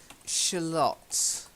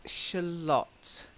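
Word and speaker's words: Shalott: okay well okay so we've got Camelot and shalat okay Camelot straight and shalat sure that's it's good okay that's a lot it's important because then it rhymes okay and the other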